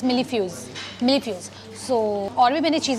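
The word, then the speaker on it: mille-feuille: hai, millifuse thing, but maine usse pucha to pronunciation, she said it's millifuse.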